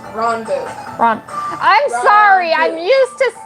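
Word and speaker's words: Ranboo: No, it's not Ranbu, it's Ronbu. I'm sorry, I'm used to people pronouncing it differently.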